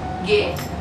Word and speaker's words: geht: Wie geht, like the open, close gate, like the gate which we normally have.